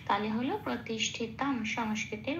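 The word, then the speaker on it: প্রতিষ্ঠিতম্: ঠয় তার যুক্ত অক্ষর, পেট কাটা মধ্যন্য শয় হসন্ত লাগিয়ে বাইরে বার করে এনে তয়ের সাথে জুড়ে উচ্চারিত হলো তিস, ঠয় হস্য এটা পড়ে রইল, তমটা যেমন আছে তেমন। ময় হসন্তটা খেয়াল রাখতে হবে, শ্লোকের মধ্যেই আছে, অর্ধমা তয়ের সাথে জুড়ে উচ্চারিত হবে।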